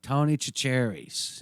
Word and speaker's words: Tony Chachere's: tony's ashrae's it comes it looks like it's spelled cherries right but it's sash french or whatever it's saturated tony chachere's it's got a little